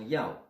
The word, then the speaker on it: 要: Et ensuite, ceci est un élément qui vous donne la prononciation Ya. Ya donne la prononciation Yao.